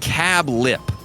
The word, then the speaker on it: Cabulp: We look forward to dining with you at Cabulp, pronounced Cab Lip, semicolon.